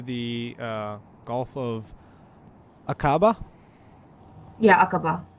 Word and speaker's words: Aqaba: Yeah, Aqaba. Aqaba.